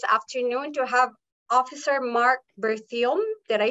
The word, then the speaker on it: Berthiaume: to have Officer Marc Berthiaume. Did I say it right, sir? Yes, exactly. And in French, it's Berthiaume. There's a bit of an accent, but you said it well in English.